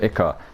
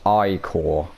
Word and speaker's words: ichor: I can fill it with magical ichor. That's pronounced ichor. Oh, okay, sorry. Ichor.